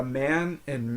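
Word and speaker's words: mannen: man Mana okay so that double n on mana and then the final e n the N gets dropped so you say man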